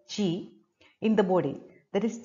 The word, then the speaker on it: qi: it's a balance between q i that is pronounced as g in the body that